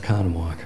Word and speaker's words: Oconomowoc: I was long enough in Wisconsin Ike it's pronounced Oconomowoc he went to UW Madison for all three